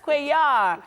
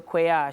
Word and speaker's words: Cuellar: Oh my goodness, Cuellar. Yes, the L is silent. So Cuellar, she's the founder of